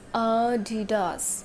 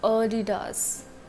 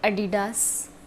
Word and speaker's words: Adidas: Next is Adidas. Adidas, not Adidas. Adidas is totally wrong. It's Adidas. Adidas.